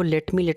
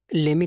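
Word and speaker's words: let me: हम इंडियन इस वर्ड को लेट मी करते रहते हैं, लेकिन अगर आपको इसे ब्रिटिश या अमेरिकन में प्रनाउंस करना है तो आपको इसको लेमी करके प्रनाउंस करना पड़ेगा।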